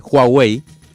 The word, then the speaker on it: Huawei: en Buenos Aires de se dice Huawei me explicaron acento en la a y con j donde estuvimos hablando ahí